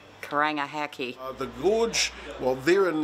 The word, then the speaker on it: Karangahake: And can you pronounce the gorge which is nearby? Karangahake gorge. Karangahake. Kakaranga. Oh, I'm not. Karangahake.